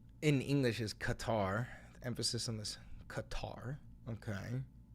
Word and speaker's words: Qatar: And this is if you take if you imagine saying like a K and then just walking the sound farther and farther and farther back in your throat. So you go back like C. That's cough.